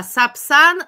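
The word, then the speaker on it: Сапсан: Subsan I I will write in Russian sub in Russian the sapsan sapsan it's a Russian B I see the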